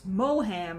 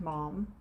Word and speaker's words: Maugham: pronounced you know mom you would think oh it's moham or magum or something like that but uh no it is in fact mom and then of course